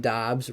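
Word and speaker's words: Doubs: Bay Packers names wrong I always say Romeo uh dubs instead of Dobbs Robert tanyon like onion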